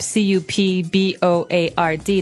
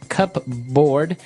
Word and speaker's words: cupboard: might want to say cupboard because it's cup c u p b o a r d. That's not right. The word is pronounced cupboard. Okay. So, even though it may seem like you should pronounce cupboard, the correct pronunciation is cupboard.